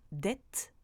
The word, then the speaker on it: dette: C'est aussi le cas avec une double consonne, comme dans dette ou appel.